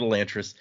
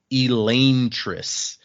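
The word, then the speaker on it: Elantris: so technically once again while we always say this one wrong we call it elantas the way this language works the technical pronunciation would be Elis yeah we didn't say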